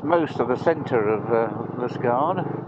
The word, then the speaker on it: Liskeard: So we missed most of the centre of Liskeard, or as they pronounce it here, Liskeard.